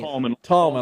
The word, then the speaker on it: Thalman: the h in there you do not pronounce the h dang tomman I apologize I lost the bet all right it's tomman and Thomas C Rider